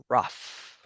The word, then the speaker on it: rough: Second one is the word rough. Rough also like an F at the end.